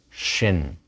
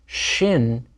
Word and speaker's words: shin: and sin are different Shin with a DOT at the upper right of the letter is sh and sin with a